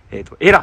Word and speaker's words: 萇野: を表す単語で日本でも長野県の地名ではこれ長野に見えますけど長野県の地名ではこれはねエラと読むということでイラクサの訛ったんだと思うんですけどところがここでは鹿児島県では保護と呼びますここ阿久根市以外